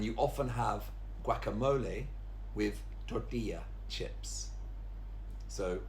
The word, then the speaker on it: tortilla: And the next two also have a double L, which is also a y sound, so it's not tortilla, it's tortilla.